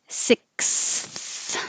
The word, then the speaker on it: sixth: together police officer and the always tricky sixth the uh ksth sixth that's a lot of